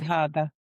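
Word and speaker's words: Kanien'kehá:ka: The K's are pronounced G's. Oh, okay. Kanyakahaga.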